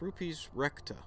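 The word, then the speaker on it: Rupes Recta: moon uh and that's uh i'm gonna probably pronounce this wrong but it's is that right yeah it's rupees recta and so that would probably be is that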